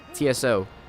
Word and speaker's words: Tso: so get it straight like Tsar in Russia TSA are spelled Tsar